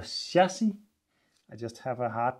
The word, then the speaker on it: chassis: I gotta say that already now I'm pretty optimistic about the it's not called a chassis, I know, it's called a shassi.